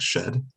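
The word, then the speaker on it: sched: have you heard that it's not supposed to be pronounced sked it's supposed to be like shed yeah sure dude is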